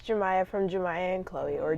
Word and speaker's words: Jamya: name and my age so my name is jamya and my name is spelled J AM yaa so kind of looks like jammy oh but it's jamya also I'm 16 years